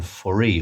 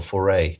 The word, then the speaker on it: Foree: Yes, one of the jarheads is played by Ken Foree, or Foray, depending how you say it.